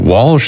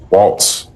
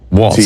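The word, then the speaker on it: Walz: Is it Walsh? Is it Waltz? It's Waltz. Waltz, like a dance.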